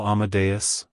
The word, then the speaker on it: Amadeus: God it's pronounced as Amadeus Amadeus Amadeus to pronounce it correctly emphasize the a sound at the beginning and the bus at the end the stress is on the second syllable like hello Amadeus goodbye amadas if you